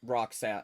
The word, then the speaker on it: roc: Uh ro because rock is how it's pronounced. I just say rogue because I don't know.